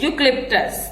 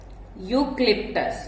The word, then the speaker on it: eucalyptus: Okay, so the name of this tree is eucalyptus. The name of this tree is eucalyptus. The spelling is EUCALYPTUS. Eucalyptus. Okay, so the E is silent here, so the name is eucalyptus.